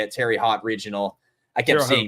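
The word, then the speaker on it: Terre Haute: Terry Hot Regional. I kept Terre seeing Haute. that like popping. Terry Haute.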